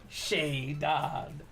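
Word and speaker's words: Shaedon: And then one day you guys were like, you know that's not how you pronounce Shade Sharp, right? Shea Don on the Mojo.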